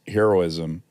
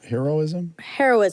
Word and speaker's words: heroism: But how do you say that word? Is it heroism? Heroism? Heroism. Yeah, you change it to an A. That's so weird.